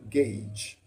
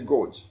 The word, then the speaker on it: gauge: The second one use pressure gauge. Don't say gorge. Pressure gauge. Pay attention to the pronunciation.